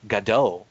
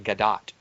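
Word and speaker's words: Gadot: pronunciation of her name apparently i've been calling her gado all this time has been waiting for gado and it's actually gadat which sounds like it looks like it shouldn't be but you were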